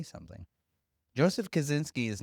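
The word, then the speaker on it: Kosinski: So for like the second time in 4 weeks, we've done a Joseph Kaczynski movie. That's how you pronounce it.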